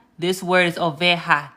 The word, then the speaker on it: oveja: So instead of oveja, this word is oveja. So the J is going to be pronounced like an H.